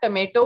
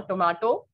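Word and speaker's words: tomate: potato next we have tomato or tomato okay in french it is tomat the spelling is almost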